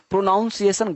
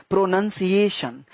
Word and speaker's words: pronunciation: तो कुछ लोग बोलते हैं प्रोनाउंसिएशन, सर प्रोनाउंसिएशन गलत शब्द है, प्रोनंसिएशन, प्रोनंसिएशन, है ना। तो प्रोनाउंस नहीं होता, प्रोनंसिएशन, क्योंकि आप जैसा बोलोगे ना, लिखोगे भी वैसा ही। अगर आपने बोल दिया प्रोनाउंसिएशन तो लिखोगे PRONOUNCI, गलत हो जाएगा।